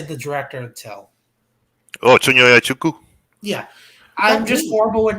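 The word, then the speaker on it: Chinonye Chukwu: Oh, Chunyoya Chuku.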